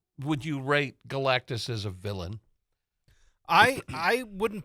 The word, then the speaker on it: Galactus: Is that how you Galactus. pronounce the villain? Yeah. I always want to add an extra syllable in there.